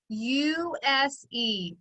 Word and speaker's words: use: use u s e use now the u we hear just straight out u it's the long vowel sound which follows which makes the right sound because we do have a silent e at the end and the e is making the u tell its name but that s sounds like a z so that makes it a red word for us use so on